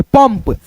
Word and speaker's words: पंप: यहां पे हमने लिखा प अंग की मात्रा प देखो ये बिंदी लगा है इसको हम म पढ़ेंगे पंप पंप प म पंप